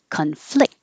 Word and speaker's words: conflict: stopping the airflow conflict if it's the verb the stress is on the second syllable and now the c-o-n doesn't sound like ah it sounds like uh conflict in the same position